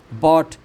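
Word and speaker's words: bought: थॉट जी H silent है। बॉट जी S silent है।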